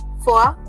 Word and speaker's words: vor: Remember, VOR will be pronounced as the alphabet F, for.